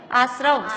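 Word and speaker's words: आस्रव: जीवा जीवाश्रव नहीं, बंध संबंध त्रव नहीं है, जीवा जीवाश्रव, त्रव नहीं है, आश्रव श्रव।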